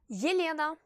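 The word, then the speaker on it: Елена: Dans ce cas, elle ne se prononce pas I, mais Y. Y plus I. Yelena.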